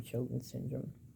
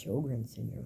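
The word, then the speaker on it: Sjögren's syndrome: It's from Sjogren's syndrome.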